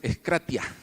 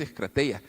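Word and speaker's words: ἐγκράτεια: Mi griego no es muy bueno, yo lo pronuncié mal, es eskratia. Eskratia, no es eskrateia, es eskratia.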